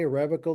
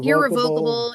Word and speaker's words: irrevocable: Um, now just generally speaking about trusts in general, you mentioned irrevocable and is can you pronounce it either way? irrevocable. Yeah. Irrevocable, irrevocable.